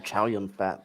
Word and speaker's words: Chow Yun-Fat: Now they've settled on Chow Yun-Fat.